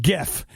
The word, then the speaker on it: GIF: created a jar of GIF. And it says Jif, creamy peanut butter, GIF, animated looping images. That's it. Hard G pronunciation.